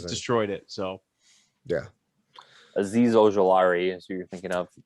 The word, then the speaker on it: Ojulari: Oh, Derek, it's Ojulari.